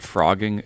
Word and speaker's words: phrogging: ever heard of this thing called frogging spelled with a phm no no you heard